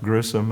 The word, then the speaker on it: Gresham: Both whites and blacks pronounced Grissom at that time.